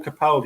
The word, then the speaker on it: Capaldi: a moment you see when you pronounce my name it's Capaldi it's not mad hey